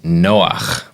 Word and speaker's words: Noach: It has the ch, the guttural sound on the end.